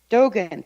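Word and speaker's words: Dōgen: is that the way you say his name Dogon Dogon Thank You Dogon was for the most part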